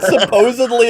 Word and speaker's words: supposedly: A lot of people pronounce wrong. They put a B in there, and that's not actually how you. Anyway.